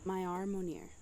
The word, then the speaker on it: Myaarmoneir: Myaarmoneir. Myaarmoneir. It's really easy. It's honestly how it looks. So like my R, like my arm, and mo, near, like near.